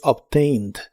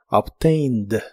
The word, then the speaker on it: obtained: En el pasado es obtained. Se pronuncia casi igual que en el presente, ya que la e que se le agrega no se pronuncia, solo la d del final. obtained.